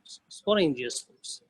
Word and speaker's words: sporangiospore: इन spores को क्या कहेंगे, इन स्पोर्स को क्या कहेंगे, we will pronounce these spores as sporangiosspores.